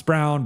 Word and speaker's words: Braun: And uh his name always throws me off. It's Brown, but the it's spelled like Braun, but yeah, you could do I think you maybe get a second for him.